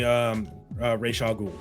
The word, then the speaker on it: Ra's al Ghul: To be honest, Me personally, it's always going to be Ra's al Ghul. That's how I've always known it is pronounced.